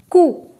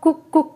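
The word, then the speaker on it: cou: is you you alright next is cool cool it's not cuckoo cuckoo Heliconia lavalla it is cool that is neck and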